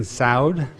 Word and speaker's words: Saud: It's Judge Adrienne Saud it rhymes with loud.